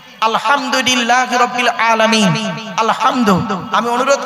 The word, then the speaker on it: আলহামদুলিল্লাহ: আলহামদুলিল্লাহ, আলহামদু, আলহামদু নয়, আলহামদুলিল্লাহ।